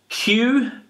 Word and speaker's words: queue: The next one is Q, Q.